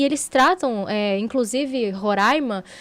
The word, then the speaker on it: Roraima: fizessem parte do Brasil Lembrando que é Roraima né Roraima né gente é Roraima pelo amor de Deus não mas assim é porque eu até entendo né A questão linguística a pronúncia quem vem de lá de baixo acaba falando ror não mas já tá